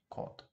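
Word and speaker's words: к: All right, but in English, whenever you pronounce this sound, uh, at the very beginning of a sentence, let's say of a word, it usually comes with an aspiration, right? For example, if you say cat, cat, you pronounce it a little bit with some force, right? You give it some aspiration, cat. But here we don't need any aspiration at all.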